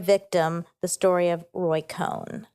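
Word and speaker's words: Cohn: Roy con it's awesome do you say Cohen or con I say Cohen and likely I say it wrong you know okay cuz it's c o n no it's o h n Cohen probably Cohen Ro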